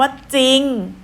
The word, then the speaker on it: จริง: ต้น เพียง ตัว เดียว เช่น คำ ว่า จริง จอ รอ อีก งอน จริง ใช่ ไหม คะ คำ ว่า จริง ออก เสียง แต่ จอ จาน คำ ว่า เศร้า ศ.